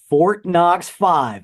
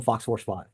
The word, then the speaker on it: Fort Knox Five: and U and again Fort Knox five I said it right there because I keep want to call them Fox horse 5 those guys are great